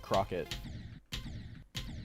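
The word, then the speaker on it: croquet: Uh, Crockett. Not cricket. Crockett. Like the really bougie French one.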